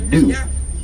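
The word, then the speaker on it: gnu: It's actually new. It's spelled G and U.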